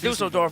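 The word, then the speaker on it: Düsseldorf: All right, Dusseldorf.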